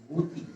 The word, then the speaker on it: গতি: অনুরূপভাবে গতি, গয়ের পর ব্যঞ্জন স্বরধ্বনি রসইকার আছে, তাহলে গয়ের উচ্চারণ, গয়ের অ এর উচ্চারণ উকারে রূপান্তরিত হবে। যেমন গ, উ এর কার চিহ্ন একারে আকার উকার হয়েছে। গতি সঠিক উচ্চারণ হচ্ছে গতি।